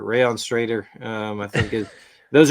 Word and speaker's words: Strader: Strider. Strider. Sorry, we're going to mispronounce things a ton, folks. That's right. Not not not curvier, but Straighter. Rayon Strader.